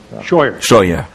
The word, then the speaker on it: Scheuer: Dr Scheuer, est-ce que je prononce bien votre nom? Scheuer.